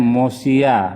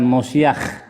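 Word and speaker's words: מושיע: nih Jangan ketipu ya ini bacanya mosia bukan mosiah kalau mosiak itu yang diurapi Mesias Tapi kalau mosia ini juru selamat gitu jadi bedanya di di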